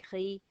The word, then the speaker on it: gris: In rouge, in gris, in vert. And one last sound, E. E. We've got E in gris.